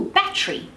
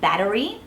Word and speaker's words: battery: T and the are another one is all battery instead of saying battery which I've been known to do from time to time because I live in the United States and I pick up habits my dad picked me up on that one he's like I think you mean battery and I'm like all right it's not a battery it's a battery good call dad thank